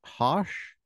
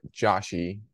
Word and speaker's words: Josh: uh Dr and your first name how do you say it is it hosh okay well some people call it Joshy like my wife sometimes how do you say San Jose um how do you say traitor hose uh-huh for me it's Josh how do you say